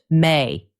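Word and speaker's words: 明: The kanji character for bright it is pronounced may.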